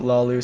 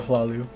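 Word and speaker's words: Hlaalu: Sometimes I want to pronounce it Lalu, sometimes I go Hlalu.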